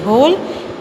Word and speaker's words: whole: लेकिन साउंड दोनों का सेम है, एच ओ एल ई होल, डब्ल्यू एच ओ एल ई होल. यहाँ डब्ल्यू साइलेंट है पर ये होल मतलब होता है छेद और ये होल मतलब होता है पूरा.